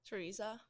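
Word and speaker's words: Tereza: Teresa, how do you pronounce it the right way? Teresa, kind of like we do it, but it's just a text spelling.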